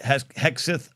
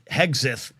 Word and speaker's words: Hegseth: And that's what Pete Hexeth is. I always say his name wrong because of a former Major League Baseball player named Joe Hesketh. But Hegseth, the Fox weekend anchor